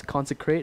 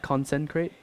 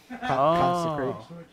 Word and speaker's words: consecrate: wants you to know it's consecrate not conent crate consecrate consecration sorry sorry okay